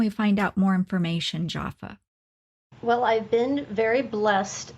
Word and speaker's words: Jofa: find out more information, Jaffa? Well, I've been very blessed to have met many gifted spiritual and metaphysical practitioners through my business, again, which is Spirited Events by Jaffa, which is spelled Jofa.